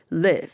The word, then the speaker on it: live: 아이 발음에 짧게 이 소리를 내는 거 우리나라 사람 잘 못해요. live 이렇게 발음을 해야 된단 말이에요.